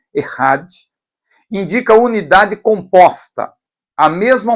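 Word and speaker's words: אחד: no hebraico não é escreve-se EAD mas a pronúncia é errad indica unidade composta a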